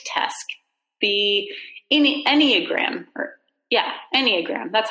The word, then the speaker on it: Enneagram: test the disk test the any Enneagram yeah Enneagram that's how you pronounce it and I'm very rare so you